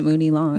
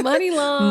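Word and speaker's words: Muni Long: I say I always pronounced it Mooney Long. Money. It's money long.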